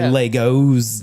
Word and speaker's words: Lego: brings up the Lego multiple Lego is not Legos it's still Lego yeah yeah well that that's the Swedish pronunciation period Well then I